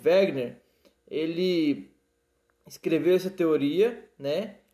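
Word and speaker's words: Wegener: chamado Wagner beleza e chama de Wagner nesse escreve né então esse alemão né Alfred wegner ele escreveu essa teoria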